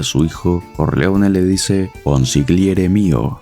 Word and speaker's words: consigliere: hijo Corleone le dice consigliere mío Marlon Brando pronuncia la G en consigliere cualquier siciliano sabría que la G en esta palabra es muda cuando se oye a